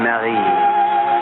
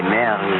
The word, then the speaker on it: Mary: Mademoiselle, your name in France, we say it Marie. The English way, I think, is so much sweeter. They say Mary.